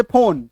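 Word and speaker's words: phone: फोन का spelling आप देखिए फ है तो पी एच से शुरू होता है उसमें नॉर्मली हम लोग अपने भारत देश में फ के उच्चारण के लिए एफ लिखते हैं लेकिन अब जहां से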